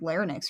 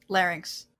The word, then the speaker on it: larynx: she has a fractured lenox or something larynx O'Reilly is it just two syllables have I been pronouncing it wrong all these years yes possess has a